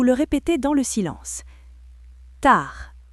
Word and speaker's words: tard: Tard, D muet.